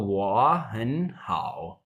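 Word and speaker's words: 我很好: Rule होता है कि पहली दो वाली सेकंड में पढ़ी जाएंगी, जो लास्ट वाला वर्ड है वो थर्ड में ही पढ़ा जाएगा। तो वो हन हाओ, ठीक है।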